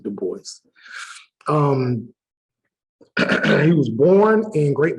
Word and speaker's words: Du Bois: Some people say Du Bois, but that's not how you pronounce it. You do pronounce it Du Bois.